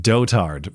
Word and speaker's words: dotard: Actually, it's dotard, but I like the pronunciation dotard better.